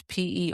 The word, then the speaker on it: Perrault: You're With, under the pseudonym Perrault, which is Perrault. I'm the only person in the world that has chosen a pseudonym that is also hard to pronounce.